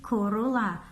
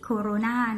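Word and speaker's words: cholera: ล่ะ คือ เอา ล่ะ อัน นี้ Corolla ไม่ ใช่ Corona นะ คะ ไม่ เหมือน กัน นะ คะ อาร์ม EV นะ คะ ออก เสียง โหล นะ คะ Corolla ฮะ โก๋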